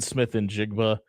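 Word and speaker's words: Smith-Njigba: Uh, Jackson Smith in Jigba is special. And by the way, that's how you properly pronounce his last name.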